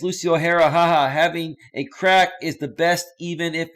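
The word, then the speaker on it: craic: is oh it's crack it's pronounced crack I never heard you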